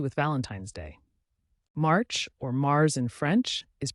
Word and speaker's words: mars: Valentine Wednesday March or Mars in French is pronounced just like the planet Mars it signals the arrival